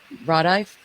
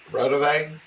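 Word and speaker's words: Raudive: Rodive? Yeah. Rodave?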